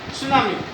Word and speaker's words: सुनामी: हम क्या कहते है सुनामी ठीक है जापानीज जो है इस वर्ड को इस तरह से बोलते है का मतलब क्या है टीस इसम टी का उच्चारण नहीं होता है सु का मतलब होता